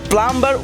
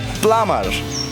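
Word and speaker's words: plumber: প্লাম্বার শব্দটি আমরা সচরাচর নিজের অজান্তে বি বর্ণটি সহ প্লাম্বার উচ্চারণ করে থাকি, যা একেবারে ভুল। প্লাম্বার উচ্চারণের সময় ইংরেজি বি বর্ণটি উজ্জ্ব থাকে বলে সঠিক উচ্চারণ হবে প্লামার।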